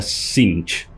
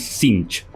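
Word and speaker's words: Tzeentch: un príncipe demonio primarca que respondía synch o sense como dicen muchos pero la correcta pronunciación es sinch así que ahí lo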